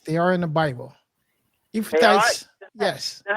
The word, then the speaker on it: Ephrathites: Have anybody ever heard, and I don't know if I'm saying it right or not, but have anybody ever heard of the Ephrathites?